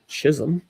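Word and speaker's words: Chisholm: Jazz Chisum.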